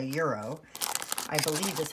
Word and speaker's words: gyro: I take these actually, and I make myself a, I call it a gyro, but apparently it's like a euro.